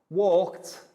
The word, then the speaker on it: walked: going to be about the final e d sounds with verbs and the three different ways we pronounce it walked like a t painted like i did and played just like the d so what we'll